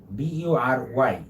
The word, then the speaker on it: bury: B-U-R-Y যেটা আমরা অনেক সময় বুড়ি বলি, বিউরি বলি, but the pronunciation will be bury. B-U-R-Y, the pronunciation is bury, okay? Bury is the pronunciation.